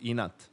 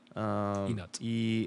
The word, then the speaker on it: Enat: And actually, I came up with the word because in Serbian it's spelled with an I instead of an E, but it's pronounced the same.